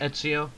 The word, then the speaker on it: Ezio: Ezio.